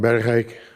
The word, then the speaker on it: Bergeijk: I'm Berik. That's the pron pronouncing of my name.